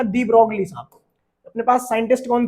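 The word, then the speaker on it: de Broglie: और dual nature में एक कॉन्सेप्ट था जिनका नाम था डी ब्रोगली साहब। अपने पास साइंटिस्ट कौन थे? डी ब्रोगली। डी ब्रोगाइल भी प्रोनाउंसिएट करते हैं कुछ टीचर्स इसको, ये लिखा हुआ है।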